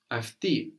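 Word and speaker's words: αυτοί: So the plural of aftos, afti, sounds just like she, but it's spelled differently.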